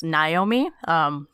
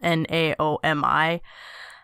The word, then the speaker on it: Naomi: Yeah, there's the famous Naomi, which I don't know how that happens because it's spelled Naomi. That happens the most, but then there's kind of different pronunciations. Like in Hawaii, it was always pronounced Naomi, which is kind of cool.